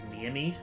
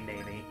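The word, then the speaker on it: Neimi: But, like, I would pronounce Naimi as Niami. Oh, I didn't even... Which I don't... That one is, like, I before weird. The E type of thing, which is not the case here. It's definitely Naimi.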